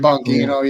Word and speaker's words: Bongino: Yeah, the Dan Bongino, is that how you say it? Dan Bongino, yeah, I know him.